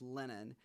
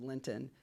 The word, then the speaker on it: Linton: but it's the southern pronunciation is Lennon. Lennon. And so my family has told me. And so I always get called Linton, and so does my dad.